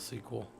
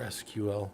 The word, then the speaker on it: SQL: yeah I call it sequel or SQL I call it both I don't care yeah